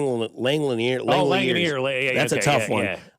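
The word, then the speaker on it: Langeliers: No, it's not Langanger Hands. It's Lang Langliner.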